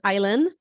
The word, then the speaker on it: Islan: welcome my name is islan it's pronounced like island without the d um that's the best